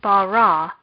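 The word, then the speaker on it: בָּרָא: separated into two syllables this word does not have any particular marks so the last syllable of bara would be stressed when reading bara it would have a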